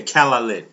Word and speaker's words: Kalaallit: Like ka or cat as in cat. Okay. C or camera. Cal lit. Okay. Kallet. Okay. There we go.